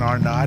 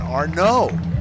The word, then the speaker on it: Arnott: Jackson Arnott is pronounced Jackson Arnaud.